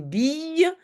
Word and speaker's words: bille: accent j'ai trouvé une bille très souvent le cette prononciation y c'est deux l en tout cas ici c'est le cas j'ai trouvé une bille